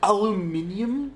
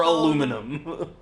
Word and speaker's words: aluminium: right or like oh aluminium if you ever meet anybody who is a stickler about that kindly inform them that both are the correct saying yeah there is no correct pronunciation for aluminum that's that's most words